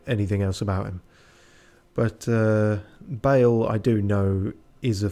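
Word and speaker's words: Bayle: So I did hear people going, Bale! And other such noises. And I guess it's that Bale, unless there's another one. Yeah, no, the one they meant is spelt like hay bale.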